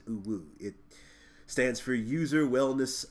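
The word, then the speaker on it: UWU: are you an alien this is the UW you but we pronounce it blue it stands for user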